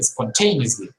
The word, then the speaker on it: spontaneously: For example, in Spanish we say espontáneamente, but in English we say spontaneously. We don't say spontaneously. No, we say spontaneously.